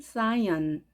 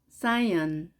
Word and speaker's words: cyan: 우리가 보통 시안이라고 말을 하지만 영어 발음은 cyan, cyan.